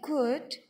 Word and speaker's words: could: Not only could, ये cold नहीं होता बेटे, मैंने आपको बताया है कि जहाँ पर LD आता है वहाँ पर L साइलेंट हो जाता है.